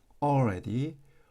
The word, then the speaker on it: already: already, already, already 이렇게 읽어주면 되겠습니다. l을 사실 발음하지 않고 그냥 오 이런 식으로 already, 예, already, already, already, already.